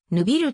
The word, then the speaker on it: Neuville: 選手ポジションはフォワード西は現地ではぬビルと発音されるフランス系ベルギー人の